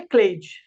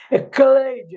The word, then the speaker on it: Cleide: Para te dar um exemplo, o meu nome é Cleide, se escreve com C. Cecília se escreve com C, mas são sons diferentes. Cleide é som de K. Cecília é som de S.